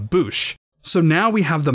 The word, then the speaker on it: Boushh: Fortunately for us, this justifies the U sound in the pronunciation of Boushh.